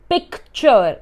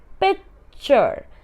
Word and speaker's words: picture: C here is silent. C here does not have a sound. We don't say picture. We say it picture.